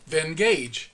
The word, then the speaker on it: Venngage: use is a site called Venn gauge and it's spelled ve and nga ge that has two ends in it ven nga ge when you click on